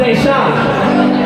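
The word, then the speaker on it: Dayshine: And his name was Deshaun, and it was spelled D-A-Y-S-H-I-N-E, but it was pronounced Deshaun.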